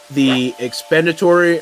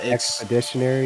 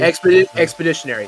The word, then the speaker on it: expeditionary: The expenditory, or how do you say that? Expeditionary. Expeditionary. Thank you.